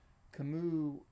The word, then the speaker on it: Camus: was a pier noir in fact saying it right kamu was a child of